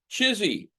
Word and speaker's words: CHSI: human superintelligence, CHSI, which, if I were to read it and pronounce it as a word, would come out chizzy.